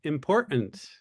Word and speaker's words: important: Can you pinpoint why and when young people started dropping the T from the word important to make it sound like important?